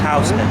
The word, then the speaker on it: Houston: i mean a lot of people think it's houston but it's pronounced housing once you go south of housing you're literally